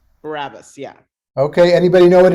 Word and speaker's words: Barabbas: something so i thought it was interesting that barabbas is named jesus barabbas i didn't i never